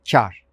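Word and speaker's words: kâr: su buharı anlamına gelir İkinci kelimemiz çağırsa ince a harfi ile telaffuz edilir ve A harfi yarım ses uzatılarak söylenir Farsça kökenli olan bu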